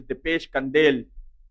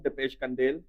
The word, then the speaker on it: Dipesh Kandel: Wicked I've just been informed that his name is depesh kandel so we have been saying his name wrong all along depesh kandel and you're right the